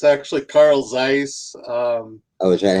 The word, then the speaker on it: Carl Zeiss: Yeah, it's actually Carl Zeiss. Oh, is that how It it's started pronounced?